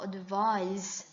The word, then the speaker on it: advise: 발음이 S 발음으로 끝나. 근데 동사로 조언하다는요. advise가 돼요. advise. 조언은 advice. 조언하다는 advise. 요게 발음이 명사형은 S 발음, 여기는 G 발음. 이렇게 끝난다는 게 차이점입니다.